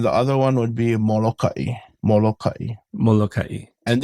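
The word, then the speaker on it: Molokaʻi: And this is kind of tricky because even the natives of Molokai have different ways of pronouncing it. Some say Molokai without the okina. Some just say Molokai. I don't know. I've always known it as Molokai, so that's what I call it as.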